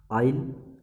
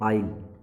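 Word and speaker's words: aisle: Next है आइल, seat के श्रृंखला के बीच में आने जाने का जो रास्ता होता है उसे बोलते हैं आइल, AISL, यहाँ पे एस साइलेंट है बेटा, आइल।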